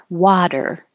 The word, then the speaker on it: water: I spell it with a D because, yes, technically it is an alveolar flap or tap because you're doing the D very quickly. Water, actually, water, pulling it back for the R.